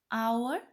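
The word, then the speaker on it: hour: Words such as our and honorable are pronounced as our and honorable. Though the first letter of these words is the consonant H, which is a silent alphabet.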